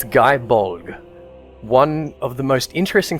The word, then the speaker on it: Gae Bolg: First up is the Guy Bulg.